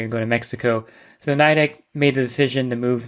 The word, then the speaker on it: Nidec: I think Nidec is the way to pronounce it. I'm probably pronouncing it wrong.